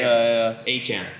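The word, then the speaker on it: Achane: Achan. That's right. That's the pronunciation.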